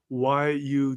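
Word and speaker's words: YU7: way that it it's it's just pronounced why you CH why you okay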